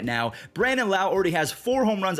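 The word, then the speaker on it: Brandon Lowe: the older demographic are punching air right now Brandon Lau already has four home runs on the year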